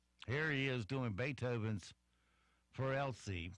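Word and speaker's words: Für Elise: he is doing Beethoven's 4lc which is pronounced sort of like fewer and ELLs I guess anyway here's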